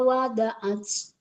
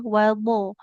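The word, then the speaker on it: وَضَعَتْ: Wallahu a'lamu bima wada'at. Jangan wada ya, wado. Huruf dotnya jangan jadi dal.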